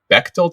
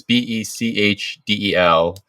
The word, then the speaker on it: Bechdel: It's like the Bechtel test or the Bechdel test. It's Bechdel.